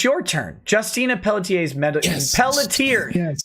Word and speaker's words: Pelletier: Justina Pelletier's Pelletier. Yes. Pelletier.